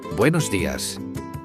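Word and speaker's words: días: Buenos das. Don't forget to use the accent on the I. It is very easy to miss.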